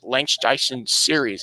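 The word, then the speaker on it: Langstrecken-Serie: first and foremost the 2021 nls uh remembering lance dyson series that's how you pronounce it also known as um vln known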